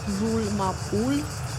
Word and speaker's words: Roule Ma Poule: you are seeing here it's called rul mol I I think this is the way you pronounce it in in French it has uh 20